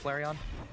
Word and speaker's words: Flareon: maybe a little more once he evolves into Flareon thank you now I will never mispronounce it again I've saved it there we